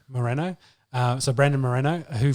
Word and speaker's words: Moreno: is it more mono i got that right moreno moreno uh so brandon moreno who fought on the